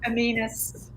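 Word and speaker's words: amoenus: Aminus.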